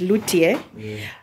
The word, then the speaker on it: luthier: about uh um a luthier okay the correct pronunciation is lutier um see it's a person who makes stringed